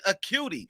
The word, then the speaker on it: Acuti: It's Acuti. And Yes, is this, I got it right, right? yes, you did. I'm a cutie.